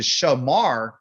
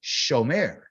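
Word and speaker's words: שומר: I hear the mirror I know it's close to Shamar but it's shomer so this o sound this so forget about what it looks like you gotta hear it show mayor that means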